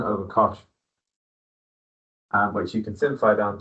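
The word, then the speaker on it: cosh: So you need to learn that definition for shin x similar to hyperbolic cos we call that kosh that will make sense.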